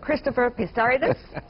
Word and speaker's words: Christopher Pissarides: Professor Christopher Pissarides, he taught me how to pronounce his name, for the year 2010, the latest among you all.